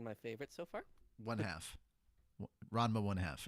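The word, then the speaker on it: Ranma ½: Ranma 1/2. It's not Ranma half. Same thing. No, it's not. These are semantics. Yes, No, it is. they are not. No, that's the actual Sure. pronunciation of the title.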